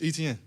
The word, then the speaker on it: Etienne: So I'm like, man, it's Etienne. Like, how you see it is how you say it, and it kind of took off because it was easy for the pronouncers to say it.